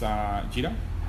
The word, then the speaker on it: Jira: Jira. That's Jira, as in Gojira, which was the original name for Godzilla.